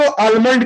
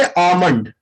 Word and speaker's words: almond: बहुत से लोग इसको आलमंड करते हैं, AL को प्रोनाउंस करते हैं, बट नहीं, इसमें L जो होता है वो साइलेंट होता है, इसको प्रोनाउंस करेंगे आमंड।